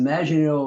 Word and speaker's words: Maginot: bit more about it, it's the French pronunciation, of course, but it's Maginot.